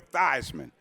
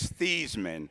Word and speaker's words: Theismann: Y'all know him as Joe Theismann. All right? Back in South River, his name is Theismann.